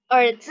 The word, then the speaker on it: 儿子: Z-I jadi C-E.